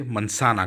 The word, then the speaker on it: manzana: इसी तरह एप्पल वहाँ पे बहुत कॉमन है तो उसे मनसाना कहा जाता है, मनसाना। जी को एस की तरह प्रोनाउंस किया जाता है।